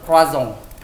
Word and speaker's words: croissant: Jadi pronounce itu croissant.